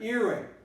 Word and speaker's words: earring: Well, the stress is here, earring. So this is the syllable that sounds more clearly.